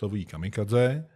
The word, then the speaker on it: kamikaze: The wind, the expression divine wind actually is written in two Japanese characters, which are pronounced Kamikaze in the Japanese reading and Shinpú in the Sino-Japanese reading, there depends on the circumstances, how to choose the Japanese reading or the the Sino-Japanese one.